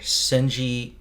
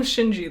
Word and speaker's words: Shinji: by a game director senji i'm 99 sure you're not pronouncing that right we didn't call him shinji though yeah okay so